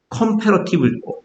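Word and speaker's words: comparative: 카메라 했으니까 카메라 했습니까 컴패러티브 컴이라고 했죠 그러면 강세가 두 번째 있는 겁니다 강세가 앞에 있으면 감으로 읽어요 근데 두 번째로 강하게 하기 위해서 앞을 약하게 있습니다 컴 패러티 가 약해지거든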